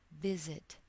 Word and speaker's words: visit: When the first syllable is stressed, visit, the emphasis is on the first syllable, or the stress is on the first syllable in visit. We do not have to double the consonant.